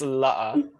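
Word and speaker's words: لا: it's not that exciting but it's la i mean you can it's like a double a but you can just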